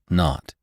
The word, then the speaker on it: 0: The 0 in the telephone number he pronounced not. The number was 2BR not 2B.